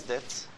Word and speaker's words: debt: What is debt and what is equity? Give me example just to digest the debt and equity. Yes. Debts like not debts, debt. like So bonds. this silent. Okay, debt.